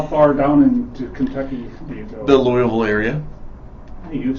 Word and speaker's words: Louisville: behind them how far down into Kentucky the Louisville area you've said it right Louisville no no